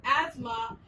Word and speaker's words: asthma: Asthma is pronounced as asthma, and T and H together remain silent. Salmon is pronounced as salmon, where L will remain silent.